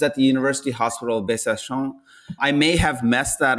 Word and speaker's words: Besançon: The name of the city is Besançon.